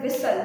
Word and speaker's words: whistle: is C bajana okay you can see the T after the word s we are pronouncing it as whistle not the vist okay whistle means C